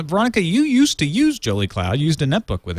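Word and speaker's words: Jolicloud: You can pronounce it Jolly Cloud, which makes you happier.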